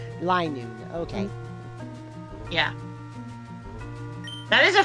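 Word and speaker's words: Linoone: Oh, Linoon. I was saying a little one. But no. Linoon.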